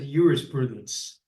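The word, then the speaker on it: jurisprudence: um that is about Juris Prudence or as the Romans would have said Uris Prudence they pronounced the J as a why um for example um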